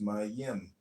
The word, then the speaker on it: Mem: It's called Comment on Mem, M-E-M, pronounced my-yim.